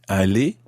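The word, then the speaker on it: aller: do you spell that a-l-l-e-z is Ali a-l-l-e-r good okay they sound exactly the same Ali he said Ali e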